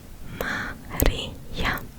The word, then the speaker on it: Maria: Well, my name is Maria. Maria. Maria. Maria. Maria. In my native language, my name is pronounced Maria. Maria.